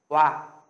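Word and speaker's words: 와: Các bạn sẽ phát âm là hoa. Hoa, đúng không ạ? Phát âm là hoa như thế này, tương tự trong tiếng Việt nhá.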